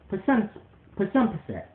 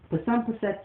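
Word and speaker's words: Psunpset: But I spell it with a P. P-S-U-N-P-S-E-T. Pasumpset. Pasumpset Solace shall be my name forever in life.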